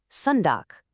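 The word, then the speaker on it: søndag: And we're rounding out the week with Sunday, sundock. You've got that same uh sound again. And just like that, you have all seven days. And you know the most important pronunciation secret, that silent g.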